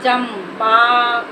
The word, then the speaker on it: चंपा: है तो क्या लगाएंगे आधा म लगाएंगे तब इसको क्या पढ़ेंगे चंपा आधा म के रूप में इसको पढ़ेंगे ये देखो हमारा हो